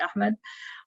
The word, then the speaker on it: Ahmed: people like riz um ahmed or ahmad i always i don't know how people in english pronounce some of the names i always say like in the arabic pronunciation which would be ahmed um so yeah there's